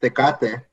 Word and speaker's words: Tecate: particular beer it's actually an import um it's pronounced tecate you know never heard of it bro is